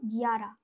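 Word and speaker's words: ग्यारह: 11টাকে আমরা বলবো গিয়ারা, গয় জফলা আকার র আর হ, গিয়ারা। 11টাকে বলবো গিয়ারা।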